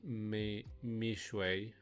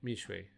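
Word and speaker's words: Mixue: Pronounce Mishui. Oh, right, Mishui.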